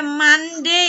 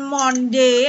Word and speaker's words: Monday: apa Tasik inet Oke mande ya hati-hati Ini bukan hop bukan Monde aneh Monde tuh jajan itu Joe ini membacanya Mande bukan Monde mandi coba Hai Alya